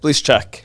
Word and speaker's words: Blyszacak: Blyszacak. Yep. So I was saying Blyszacak for years, so apologies.